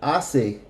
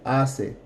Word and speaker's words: hace: I make two assists notice that the C before the e sounds like an S to Isis él hace ajeosshi esto hace usted hace nosotros we we are